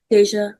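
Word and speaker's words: Dasia: But there is no way you're getting a J from a D A S I A.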